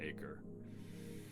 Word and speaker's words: Acre: Um, in American English and British English, we would just call it acre. But um there is uh I want to say some place in I'm just going to broadly say the Middle East uh called Acher and there is a region of the Amazon forest named uh Ara. And in Portuguese, I believe you pronounce it a uh cuz I